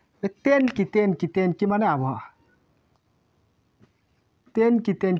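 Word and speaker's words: 天気: দেন এটা হবে দেন কি হবে না, তেন কি মানে আবহাওয়া।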